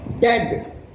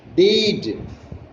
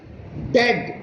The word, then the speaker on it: dead: And dead. It's like bed, not bead. For goodness sake, don't call it deed. D-E-A-D, don't call it deed. It is pronounced like dead, like bed.